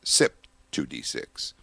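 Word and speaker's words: CYP2D6: That enzyme is C YP2D6. However, it's pronounced SIP 2D6.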